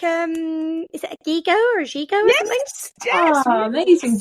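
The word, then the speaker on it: gigot: in there well particularly it's pronounced gigo because that's it's g go t and if the t is not pronounced in French isn't it who can say w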